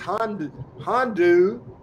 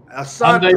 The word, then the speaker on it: Hyundai: It's Hondu. Is that how to pronounce that, Adam? Am I right? Is it Hondu or Handy, or how do you pronounce the thing? And what is it? A Hyundai Sonata.